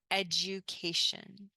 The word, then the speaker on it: education: if you want educas education education notice here when we have D and U sometimes it becomes J J education education here telis